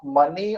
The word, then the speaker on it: mesne: अच्छा, there is one definition जो कि आपका डेफिनेशन क्लॉज में दिया गया है, मीन profit, MESNE, एस is silent, उसको बोलते हैं मीन प्रॉफिट।